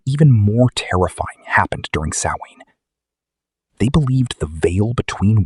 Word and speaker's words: Samhain: A festival called Samhain. Pronounced Sow-in.